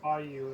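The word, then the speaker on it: Bayeux: It is Bayou, it looks like.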